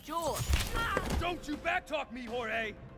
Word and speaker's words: Jorge: last one up Jorge my name is pronounced Jule don't you backtalk me